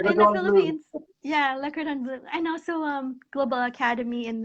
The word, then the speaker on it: Le Cordon Bleu: pronounce that? Yeah, yeah. Le In the Cordon Bleu. Philippines. Yeah, Le Cordon Bleu.